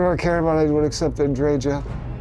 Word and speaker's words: Andreja: Nothing I care about anyone except Andreja. And yes, that's how they said her name, so that's how I'm saying it.